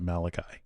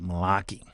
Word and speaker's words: Malachi: Yeah, Jews don't pronounce it Malachi. They pronounce it Malaki.